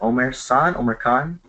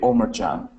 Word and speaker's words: Omar Chan: If you guys want to go tell, is it Omar Khan? It's actually Omar Chan.